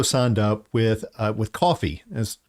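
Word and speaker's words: Ko-fi: up with uh with coffee as ko dash f i pronounce it coffee uh so basically if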